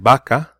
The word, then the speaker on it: vaca: In Spanish, usually these are pronounced the same way. They're pronounced the same way. So you can have the word vaca, right? Sounds like a B, but it is a V.